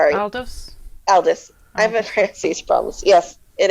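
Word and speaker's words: Aldous: Uh Aldrris Huxley. He wrote uh Brave New World and he Oh, really? Is it Aldis? Aldis, sorry. Aldos.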